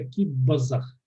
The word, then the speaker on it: кип-азах: Да, пишется кип-азах, произносится кип-базах. Кип-базах, ну потому что П между двумя гласными.